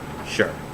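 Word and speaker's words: 是: opinion form of it it's spelled s h i and it is sharp and if you're listening it is the first tone so it goes down so sure and it's spelled like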